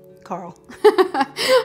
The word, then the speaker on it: Karl: Okay, Carl with a K. Carl. I say it wrong.